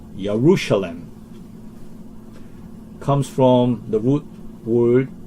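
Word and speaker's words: ירושלים: Well, Jeru is a English pronunciation. Hebraic pronunciation will be more close to Yaru. Yerushalem comes from the root word Yara, or you could say Yaru, Jerusalem.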